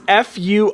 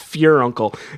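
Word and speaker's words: furuncle: week is your uncle no no it is f-u-r-u-n-c-l-e uncle that's not pure uncle that's fine it's pronoun it is i checked it's pronounced fear uncle i thought it was pert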